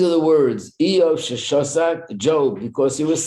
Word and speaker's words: Job: Job, right, and he suffered a lot. What? No, I thought it's Job, like to get a job. Yeah. No, that's how his name is pronounced in English, Job.